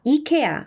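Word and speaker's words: IKEA: 같죠 여러분도 잘 아시는 스웨덴 가구 회사 이케아 아시죠 그거 스웨디시 발음으로 하니까 이케아가 되지만 이걸 미국식 발음으로 옮겨오는 순간 케아가 된다라는 거 그래서 같은 스펠링 이에도이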